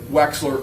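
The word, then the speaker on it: Wechsler: And that's one of se of the several subtests of the Wexler. Correct. I want to say it correctly. That would be the weights the Waxler adult intelligence scale.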